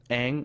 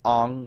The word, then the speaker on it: Aang: itself but right and they mispronounced names in the in the cartoon it was Aang I guess and in the live-action they say they said like on or something pretty sure